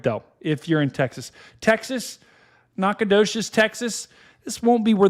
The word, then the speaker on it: Nacogdoches: Where is how do you pronounce that? Nacogdoches.